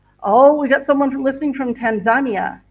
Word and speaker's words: Tanzania: I'm getting we got someone listening from Tanzania, or Tanzania, the way Americans say it. Tanzania.